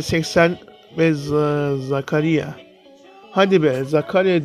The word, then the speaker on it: Zakaria: Hadi be Zakaria diye okunur ama bizimki böyle bok mu okuyor ya.